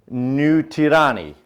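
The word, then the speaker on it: Nu Tireni: It says New Tirani. New Tirani is the Maori pronunciation of New Zealand.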